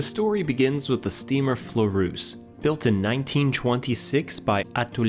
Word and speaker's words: Fleurus: island by the way I've heard this ship's name pronounced the angelized way Flores and also the French way flus since the ship was built in France I'm going to stick with my attempt at the frenchway the flus was small and nothing